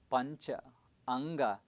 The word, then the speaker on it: Panchanga: It is pronounced as Pancha Anga, where Panch means 5, Anga means, of course we said earlier, the body parts.